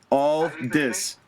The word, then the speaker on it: Aldis: Nick Aldis.